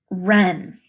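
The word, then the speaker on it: wren: how about this one Ren Ren is a kind of bird they're pretty little birds Ren stretch it out remembering that there's a silent letter in there Ren Ren and read great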